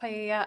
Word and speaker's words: paella: to be used to cook paella. I'm not sure if that's how you pronounce it at the party. It's pronounced paella.